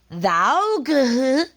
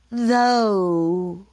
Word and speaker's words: though: o u g h you don't say thou it's though usually it is spelled